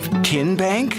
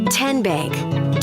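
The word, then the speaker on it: TNBank: How do you say the name? TN Bank? Nope. Tin Bank? Uh-uh. So, what is it? Tenbank. 10 as in Tennessee.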